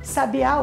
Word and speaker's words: sabiá: É o caso, por exemplo, de secretária e secretaria. Então, secretária é a pessoa, secretaria é o lugar. Ou sabia e sabiá, sabiá o animal, sabia de saber alguma coisa. Então, as palavras são escritas da mesma forma, mas são pronunciadas de maneira diferente.